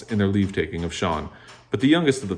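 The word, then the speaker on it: Cean: the beginning chapter one the name is c-e-a-n and i assume that's pronounced like shawn so that's what i'm gonna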